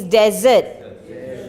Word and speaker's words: desert: No, pronunciation desert and desert. Make sure this one is desert. Yeah, the one that you eat after your meal is dessert. Can I have some dessert? If you say, can I have some dessert, they'll give you sen. Okay, so pronunciation, just one S difference.